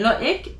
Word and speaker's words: Loïc: How do I know to pronounce the I more than the other letters? It's because of the tréma. So again, loïc, naïf.